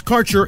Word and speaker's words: Kaercher: Your connection to quality cannabis insurance services is spelled Kaercher. That's Karcher Insurance.